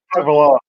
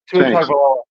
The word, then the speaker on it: Tagovailoa: How do you pronounce his name? Tagovailoa. Tagovailoa.